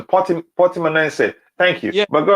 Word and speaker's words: Portimonense: Oh yeah, that sounds like the correct pronunciation. Portimonense.